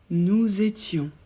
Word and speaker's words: nous étions: le S nous étions on prononce bien le S du nous comme un Z vous étiez pour vous